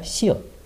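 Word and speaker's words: 시옷: it sounds like and next we have shio which is written like that and in english it's s however when it's used as ending sound is pronounced like t okay and this one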